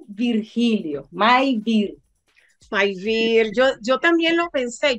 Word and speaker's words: Mayvir: ¿Cómo lo pronuncias? Mi nombre es Maybir. Maivir.